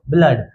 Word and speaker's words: blood: ब्ल से तभी तो और कुछ-कुछ एक्सेप्शनंस है जैसे बी L double O डी को ब्लड एफ L double O डी को ब्लड यहां पे डबल ओ का उच्चारण ओ से नहीं होता तो बच्चों इसी को